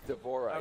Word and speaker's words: D'Vorah: do is it how you how did you pronounce her name d'vorah is that right d'vorah yes so what's the Swarm Queen variation she's